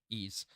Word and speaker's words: Ys: last week uh and when I see ease it's Ys it's that's how you pronounce it ease um there's a new